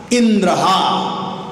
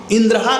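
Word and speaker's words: इन्द्रहा: इंद्रहा का मतलब इंद्र को हनन करने वाला, इंद्र को मारने वाला, लेकिन उच्चारण करते इंद्र हा, इंद्र अलग कर दिए और हा अलग कर दिए। इसका मतलब हो गया इंद्र का फॉलोअर।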